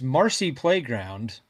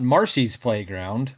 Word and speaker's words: Marcy Playground: Uh I learned the last night when I was doing research for this bracket, it's Marcy Playground, not Marcy's Playground. I've always I've been saying it wrong. It's not plural.